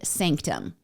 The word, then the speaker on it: SNCTM: the Showtime series Naked Sanctum. I didn't know about this series, and Sanctum is spelled in all capital letters, and there's no vowels, so it's just SNCTM, so Naked Sanctum.